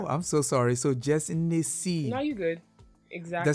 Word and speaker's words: JessNneCee: Okay, so for real, if you want to get to nitty gritty, it's Jess Nessie. Like Nne as in Igbo.